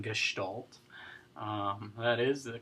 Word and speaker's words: Gestalt: Extra credit for the Stalt in Gestalt. That is the correct pronunciation of it. Oftentimes people call it Gestalt.